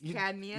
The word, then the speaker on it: cadmium: Know well, anything that rhymes with madmium. It's cadmium.